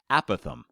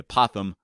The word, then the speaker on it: apothem: name for that altitude it's actually called the a Pithom but sometimes people mispronounce it as the apothem which sounds like a little furry creature that crawls across your front lawn but no this is